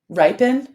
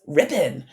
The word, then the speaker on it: ripen: Ripen. I was reading his as rippin. So ripen.